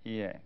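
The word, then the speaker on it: 家: Ie, pronounced ie.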